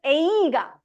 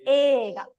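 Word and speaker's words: 映画: So even though it's written like this, you don't pronounce it as eiga. No. That E is not E. It's not even silent. It's elongating the A. It's ega.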